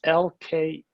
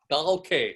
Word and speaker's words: Dahlke: How do you spell it? So it's Dahlke. Dahlke, yeah, Dahlke, okay.